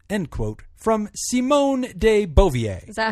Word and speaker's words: Beauvoir: Actually, I think it's Beauvoir. I think it's Bouye Vucouche. Beauvoir. I think it's Beauvoir, as Jim would say. Like reservoir.